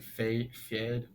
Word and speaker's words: Feyd: It's Feyd, so it's like Fade.